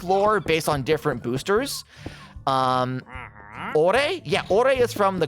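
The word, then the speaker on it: Orre: I know that Ouray, it's officially pronounced Ouray, don't at me, was Arizona.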